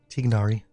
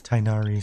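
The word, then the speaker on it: Tighnari: no talents for tinari tigari I used to always say say it right at tigari but then the game always uh the in-game dialogue always says tinari so sometimes I sometimes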